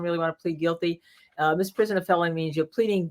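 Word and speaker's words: misprision: s p r i s IO n okay Miss prison okay uh so that you don't report a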